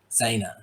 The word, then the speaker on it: Zaina: Now, I'm pronouncing this right? Zaina. Zaina.